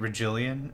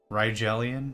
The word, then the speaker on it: Rigelian: And I've been pronouncing it Regillian or whatever, and they pronounce it Rigelian, right?